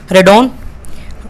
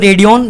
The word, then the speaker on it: Radeon: तो आज मैं आपके सामने लेके आया हूँ TVS रेडॉन या फिर रेडियन, जो भी आप बोल सकते हो अपनी अपनी, थोड़ा प्रोनाउंसिएशन अलग अलग हो सकती है।